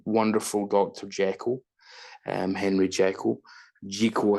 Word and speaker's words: Jekyll: Jekyll, I should say. See, it even got me doing it. I get it right, David. Jekyll, rhymes with treacle.